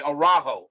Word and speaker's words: Araujo: Okay, Araujo.